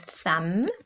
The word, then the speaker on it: thumb: Now remember, the silent B has a M before it. So we've got thumb, lamb, crumb.